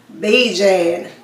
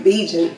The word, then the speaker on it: Bijan: You know, a lot of people have been saying Bijan Robinson, but it's actually Bijan Robinson.